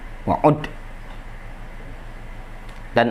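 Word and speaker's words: وعُدّ: Wa'ud, itu bacanya ud. Wa'ud. Dan anggaplah ini wa'udda. Ya. Wa'udda hadza min fadailihim. Bacanya uddah.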